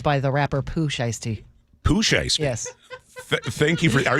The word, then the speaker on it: Pooh Shiesty: Pooh Shiesty? Yes. Thank you for... Are you sure you're pronouncing it correct?